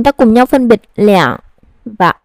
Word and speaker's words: 两: Vậy khi nào đọc là lẻng, khi nào đọc là er? Số 2 sẽ được đọc là er khi nó là số đếm. Ví dụ, 12, 20. Và sẽ được đọc là lẻng khi là số lượng đứng trước lượng từ.